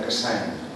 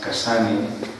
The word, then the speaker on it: Cassany: nacido en Barcelona, entonces mi apellido en catalán se pronuncia Cassany, pero nadie me conoce por este nombre. Aquí en América, gracias, la manera más habitual como me llaman es Cassany, Cassany.